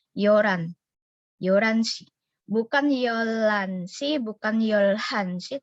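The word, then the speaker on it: 열한: Jadi bacanya bukan yolhan, tapi yoran.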